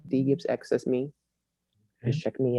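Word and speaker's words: DGibsX: i b s x my name is d gibbs but the x is silent um probably doesn't confuse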